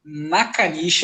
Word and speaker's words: Nakanishi: E eu estou na bancada com Nakanishi, é assim que pronuncia, meu mano?